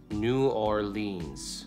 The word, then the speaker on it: New Orleans: Common popular pronunciations, New Orleans. New Orleans. Prevailing local pronunciation, New Orleans. Okay, that's how I said it.